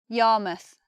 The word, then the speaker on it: Yarmouth: from Middle English but we change the way we say the word mouth when it's at the end of the word when it's at the end of the place now it sounds different to how you would expect we have Plymouth Bournemouth Yarmouth so instead of mouth it becomes mus we have the schwa there so the sound of